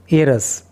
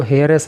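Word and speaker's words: heiress: एंड और pharmaceutical एरस। देखिए इस वर्ड के प्रोनाउंसिएशन पे आपको ख़ास तौर से फोकस करना है। इसको हेयरस नहीं पढ़ते, इसको एरस पढ़ते हैं।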